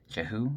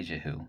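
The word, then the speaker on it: Jehu: I probably pronounced that wrong. J E H U. Jahoo. I'm gonna say Jahoo.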